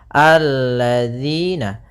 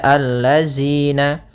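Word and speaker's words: الذين: Maka kita baca di sini alladzina. Kemudian pada lafal di sini hati-hati dalam pelafalan jangan dibaca allazina. Yang sering terjadi kesalahan adalah membacanya zal dengan zai.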